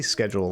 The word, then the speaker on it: schedule: ways to do it actually say schedule like an American though like that previous